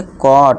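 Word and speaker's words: caught: तो इसे क्या पढ़ेंगे? कॉट। अब देखिए दोस्तों यहां जी एच साइलेंट है। जी एच टी है ना? इक्वल टू देखिए दोस्तों। अब इतना बस याद रखिए। जी एच टी इक्वल टू हमने क्या साउंड देना है? ट का साउंड देना है।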